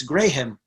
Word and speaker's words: Graham: and and moonlight graham it's pronounced actually it's graham it's two syllables and anyway it was